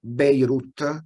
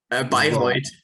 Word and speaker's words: Bayreuth: He got recently a PhD in physics at the University of Beirut. It's right, the pronunciation, or Bayreuth.